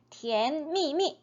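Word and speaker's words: 甜蜜蜜: 쓰였던이 달코마 첫밀 티미미 정확한 발음은 티엔미미 이렇게 되겠습니다 니샤드 티엔미미 니샤드 티엔미미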